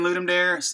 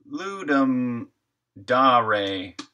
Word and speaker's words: Ludum Dare: The name is Latin for to give a game. Ludum dare. Ah, Ludum dare.